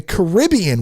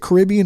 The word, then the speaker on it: Caribbean: which I love, the Caribbean, which I love. Do you say it Caribbean or Caribbean? I guess it depends on who you are and how you want to pronounce that.